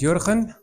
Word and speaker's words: Jurgen: to you all uh so my name is yuran and I know uh many of you will try to pronounce my name well if you're not from